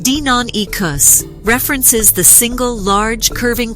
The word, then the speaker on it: Deinonychus: dinonicus is Greek for terrible claw the name Daniel Nicos pronounced Dinan ecos references the single large